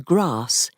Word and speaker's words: grass: They pronounce the A in grass, as in hat, because the long R sound only began to be used instead of in England in the 18th century.